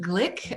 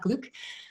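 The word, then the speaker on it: Glück: um uh actually it's her last name is pronounced Glick uh the umlout is Hungarian in origin and so it's Le Glick not Gluk um although hardly anybody know and it happens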